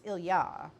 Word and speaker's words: Ilya: pronounce in English as Ilia. Um there's an indication that the pronunciation stress is on the yah. So it's ilyah and more almost like and they said the L is almost silent.